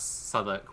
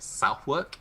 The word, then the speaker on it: Southwark: like I made the mistake that Southwark was like Southwark until I moved here. And I was like, oh, it's actually Southwark.